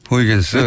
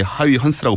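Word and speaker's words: Huygens: 네, 얘도 옛날 사람인데 이 사람도 이제 요즘은 네덜란드 발음으로 바꿔서 이렇게 하위 헌스라고 불러주는데 어허.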